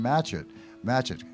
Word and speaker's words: Matchett: Now, before we do that, one of the things was that she asked if a guy by the name of Jordan Matchett rhymes with hatchet, careful.